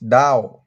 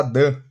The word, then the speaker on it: Dunn: aos romanos de James Down muita gente fala Dan mas a pronúncia correta é Down James Down ele faleceu